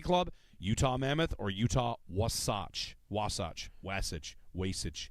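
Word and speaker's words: Wasatch: about the mountains out there the Utah was wasach wasach okay that's the mountain range out there w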